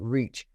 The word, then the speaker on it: REACH: Foundation and we use acronyms r e and pronounce it reach we provide re-entry housing to women coming out